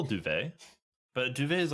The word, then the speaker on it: Duvet: It could easily be Dovet. I just That's how I would think Duvet would be pronounced. Uh, no, actually Duvet.